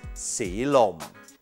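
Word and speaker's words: สีลม: Altogether, it's si lom.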